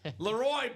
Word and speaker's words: LeRoy: Now, isn't it pronounced Loy? Leroy Butler. Leroy Butler. Not Leroy. Laroy Butler on that Green Packer authentic.